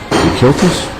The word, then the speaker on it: Dekiltis: Dekiltis? Am I saying that right? I have a hard time pronouncing it myself. That's about right.